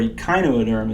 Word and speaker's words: echinoderm: All right, this next group that we're going to study is called the echinoderm, or echinoderm is actually how that's pronounced, and it means spiny skinned.